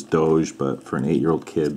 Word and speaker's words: Doge: you want to pronounce I know that the proper pronunciation is Doge but for an 8-year-old